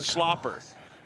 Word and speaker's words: Schlapper: mad at him because his name's spelt slapper and we have to pronounce it slopper i asked him and